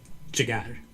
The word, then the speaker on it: jigar: Jigar. Jigar. Jigar. Liver. And you see this J is pronounced as J. J. Okay, sounds Farsi.